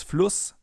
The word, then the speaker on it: Fluss: Because in front of a double S, the vowel is always pronounced short, as in Fluss or Kuss, for example. If we would take a sharp S here instead, it would be Fluss or Kuss. But it's Fluss and Kuss.